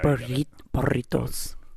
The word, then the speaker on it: burrito: Burritos. Yeah, that's good. You don't really roll your R's too hard on burritos, though. No.